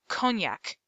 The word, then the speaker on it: cognac: glanced at the book cognac the g is silent and the knack sounds like this the three suit is